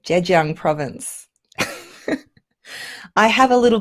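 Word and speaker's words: Zhejiang: going Oh Dave Daniels is saying I actually pronounce that correctly Jed Jung province I have a little bit of a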